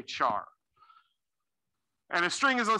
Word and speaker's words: char: And again, with the laziness, we usually call that char, but weirdly, we pronounce that normally char, not car. Okay. Even though character, right, it should be car. Normally you say char.